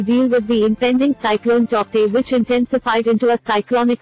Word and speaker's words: Tauktae: Cyclone Tauktae, pronounced as Tauktae, intensified into a cyclonic storm on Saturday morning.